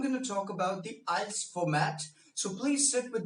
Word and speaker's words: IELTS: First of all, friends, please understand this is not IELTS, this is IELTS. How do you pronounce it?